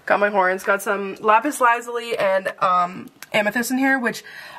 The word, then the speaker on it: lapis lazuli: And then, it's not lapis lazuli. I get screwed on this every time. It's lapis lazuli.